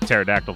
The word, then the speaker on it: pterodactyl: oh they're doing the pterodactyl thing i don't know why i pronounced the p you're not supposed to because you probably read